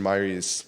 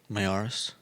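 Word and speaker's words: Miyares: Virginia Attorney General Jason Myers. I always mess up his last name. Mayaris? Thank you. I think that's how it's spelled. You were right.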